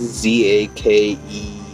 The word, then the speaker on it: Zakelj: I wanted to see how his name is pronounced. Zakelj.